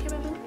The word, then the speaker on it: chamomile: That's how you say it, chamomile.